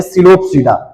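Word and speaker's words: Psilopsida: है चार प्रकार के पहला है सिलो सडा यहां पे पी साइलेंट होता है इसको पढ़ेंगे सिलो सडा इसके बाद पढ़ते हैं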